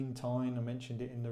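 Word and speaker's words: Tein: Now, from driving Matt's, I think it's pronounced Tine, I mentioned it in the review on his one.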